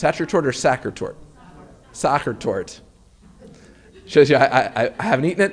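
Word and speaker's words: Sachertorte: And so the desserts that are mentioned in the book include apfel, strudel, and is it pronounced sachertort or sachertort? Sachertort.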